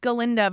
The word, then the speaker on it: Glinda: I think it's Galinda, but it's spelled Glinda.